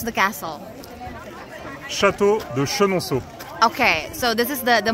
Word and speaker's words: Château de Chenonceau: And we need to know how to pronounce the castle. Château de Chenonceau.